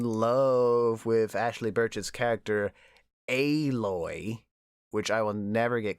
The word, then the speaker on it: Aloy: Everyone is in love with Ashley Birch's character Aloy, which I will never get comfortable with saying. It sounds like a really bad mispronunciation of alloy.